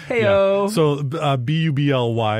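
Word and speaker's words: bubly: hey you know supper so be you Bly as opposed to the two B's how we normally would pronounce the word bubbly bubbly sparkling water is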